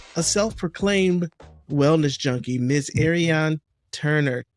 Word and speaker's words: Ariane Turner: industry og and a self-proclaimed wellness junkie miss ariane turner said your name right you did you said